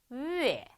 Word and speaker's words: 月: 下雨下雨 두 번째 月月 그죠? 우에 이렇게 읽으시면 안 되고 위에 이렇게 읽으시면 돼요.